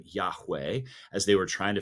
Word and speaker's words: Yahweh: He says, "My name is Yahweh, Yahweh." And and in Hebrew, it's spelled YH WH. There there no vowels in Hebrew. And so we supply those.